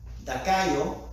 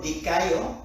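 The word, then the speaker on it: δικαιόω: Entonces, justificación del griego dakaio, se lo deletreo si quiere, perdón, del griego dikaio, es D y latina, K de kilo, A, I y W. Y puede ponerle acento en la primera O.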